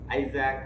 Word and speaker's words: Isaac: First, the title of the story is The Fun They Had, written by Isaac Asimov. Please underline this word and look at the pronunciation. ISAAC. Isaac Asimov.